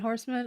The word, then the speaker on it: Horseman: might not screw up your last name. Is it Horseman? Oh, is it Horseman? I just want to make sure I don't screw it up because I want to introduce you. Okay. Am I saying it right? Oh, man. Okay, great.